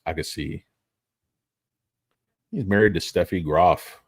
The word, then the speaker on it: Agassi: It's Agassi.